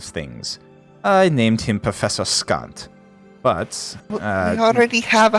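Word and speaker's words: Skant: Like, Scant. Like scant.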